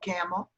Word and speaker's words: Campbell: there a village called Campbell? There's one, I think, in Lycoming County. Oh, okay. And they pronounce it Campbell, just like almost without the B. Like a camel.